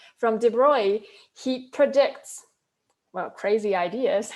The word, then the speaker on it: de Broglie: And then 2 years later, de Broglie or you probably want to pronounce his name as de Broglie, but actually you can, it's a French name, I believe, and the L-Y-E can be pronounced as kind of Y, so it's like de Broglie.